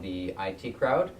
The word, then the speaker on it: IT Crowd: funny British sitcom called The IT Crowd. I think it's actually supposed to be pronounced the It Crowd because they're it.